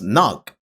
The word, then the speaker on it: knock: English has many words with silent letters like the K in knock or the B in thumb.